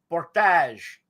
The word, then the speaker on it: Portage: Portage.